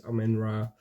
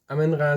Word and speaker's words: Amenra: talking about some amra I don't know how to pronounce it correctly but I think it's amenra uh or amra on it's dutch because it's a it's in a Belgian band um and I'm from